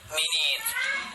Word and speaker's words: minutes: Tulisannya tapi bacanya minutes.